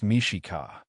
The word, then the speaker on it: Mexica: Tenno Titlon, home of the Mexican people pronounced Mishika.